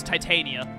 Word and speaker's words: Titania: It's not Titania, it's Titania. Titania is how you pronounce the fairy tale version.